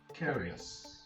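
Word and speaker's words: Carrious: Carius. He will carry us into the future.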